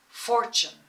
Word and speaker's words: fortune: We don't say fortune, we say fortune. Emphasis on the first syllable.